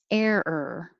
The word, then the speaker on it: error: 16, error, error, air, think of air, and then make it a little 2 parts, error, error, error.